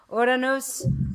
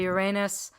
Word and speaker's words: Uranus: not smack on but close to ordinos some people say Uranus I like to say it like that because it sounds prettier as autonous and that means the